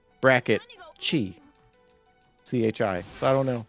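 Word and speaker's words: χ: and it is called Kingdom Hearts X, but it's pronounced Chi. Huh. I think it's a web browser game. Is it Kai, like the Greek letter?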